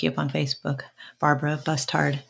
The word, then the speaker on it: Bustard: So look you up on Facebook, Barbara Bustard, B-U-S-T-A-R-D. Yes. Sorry, yes. Did I say it right? No, that's right, Bustard.